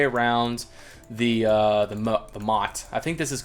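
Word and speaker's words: motte: all the way around the uh the the mot I think this is called a Mot the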